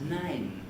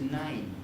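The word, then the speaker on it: nein: your name sorry alexa alexa is saying nine nine and we we would anglicize that as nine nine this is certainly wrong for germans what they want is nine they can understand yes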